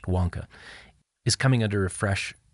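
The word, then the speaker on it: Vanke: greatest of the developers it's spelled vanki but pronounced Wonka is coming under a fresh round of financial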